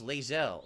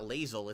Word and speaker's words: Lae'zel: And then Pizza Box Gaming did a super chat, says, I'm having fun and romance Lae'zel. So now I know it's not Lae'zel, it's Lae'zel, which I didn't even know.